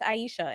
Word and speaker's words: Aixa: thought it was this i thought your name was pronounced isa and then somebody was like no it's aisha and i was like oh really i'm wrong then i play it